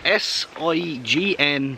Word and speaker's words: sign: Why is S-I-G-N pronounced sign, but S-I-G-N-A-L is pronounced signal? Signal. Like, You've been wrecking my brain with this the last 5 minutes. Why is it a hard G when there's an A-L, yeah, but not a hard G when it's just an N?